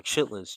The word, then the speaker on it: chitlins: Chitterlings or chitlins chitlins is how it's pronounced. Chitterlings is actually how it's spelled.